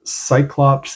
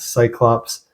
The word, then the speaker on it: Psyclops: Next, I want to talk about Cyclops and their album Bound to Burn Melody of the Martyr.